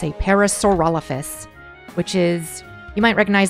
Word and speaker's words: Parasaurolophus: a parasaurolophus most often confused or people often pronounce it as parasaur lopus which is the incorrect way of pronouncing it it's a parasaurolophus which is you might recognize that dinosaur as